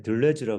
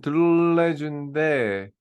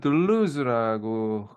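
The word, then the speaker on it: Deleuze: 방법이 좀 다른가봐요 오늘도 발음이 틀렸네 둘레즈라 그랬는데 왜 드레쥬라 그랬지 아니야 저기 원래는 드루레즈인데 근데 미국에서는 들루즈라고 보통 해요 영어가 자기 마음이 미국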